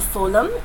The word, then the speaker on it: phloem: Take note that the word food and phloem, it sounds as if it begins with the same type of pronunciation. Both begin with the f sound.